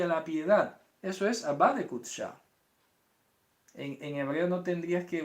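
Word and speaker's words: Abba de qudsha: La forma más correcta de decirlo sería, como esto es una palabra aramea, Abba. Entonces, Abba de Kutsha.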